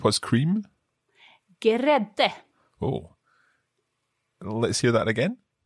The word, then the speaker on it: grädde: So if you remember, we always pronounce the E's on the end in Swedish. Yep. So grädde. Grädde. It almost sounds like there's a vowel between the G and the R.